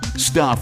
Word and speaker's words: Stuph: Stuff is spelled s t u p ph.